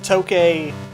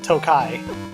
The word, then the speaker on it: Tokay: I was told to the tokay is supposed to be a pun on the word Japanese word for time so that's how I'm gonna pronounce it now instead of Tokai well there's enemies here